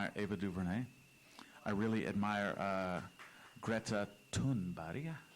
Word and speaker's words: Greta Thunberg: I really admire Greta Thunberg. That's how you say her name in Swedish.